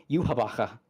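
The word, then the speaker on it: Yhwach: And now the thank you Blood War English dub. Yuhabaka. Yeah, because it's it's based on Yahweh and like an arcade pronunciation to that cuz he's literally evil Jesus.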